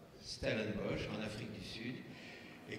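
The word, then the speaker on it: Stellenbosch: conférence à l'université de stenbos se prononce bien stellenbos en Afrique du Sud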